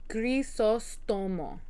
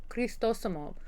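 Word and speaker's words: Crisóstomo: Crisostomo. So not Cristosomo. Crisostomo. Crisostomo. So, like, in my head, I said it right the first time, but because, like, I would call it burritos Cristosomo. So I was putting the T in the wrong spot.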